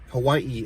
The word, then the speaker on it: Hawaii: can't even do it it's like Hawaii Hawaii you know like she pronounces every a and I Hawaii and then she's always